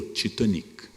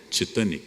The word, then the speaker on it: Titanic: Essa pronúncia existe até hoje. Ora, é um navio britânico. Não há nenhum motivo para chamar um navio inglês de Titanic. Ou eu digo em inglês ou eu digo em português. Por que é que eu opto por pronunciar de forma francófona? Porque toda a elite brasileira falava francês. Éramos todos francófonos. E o navio era Titanic.